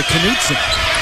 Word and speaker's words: Knutson: Sigma to Knutson. You pronounce the K.